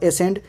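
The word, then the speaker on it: ascend: तो सी after S is silent, यानी एस के बाद जब सी आएगा तो सी साइलेंट हो जाएगा। For example एसेंड, एसेंडिंग, डिसेंड, डिसेंडिंग, ऑब्सीन,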